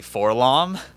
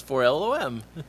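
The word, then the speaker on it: 4-LOM: When I read it spelled out phonetically, I was like, that's not how you say forlom. That's 4LOM.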